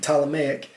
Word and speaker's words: Ptolemaic: That starts with a P, Ptolemaic, Ptolemaic. The P is silent, empire.